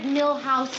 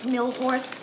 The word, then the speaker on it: Milhous: Wars in England you'd find a way to mispronounce London oh uh Ted Mr Grant asked me to remind you it's Richard milhous Nixon not milor hi yes hi what are you doing here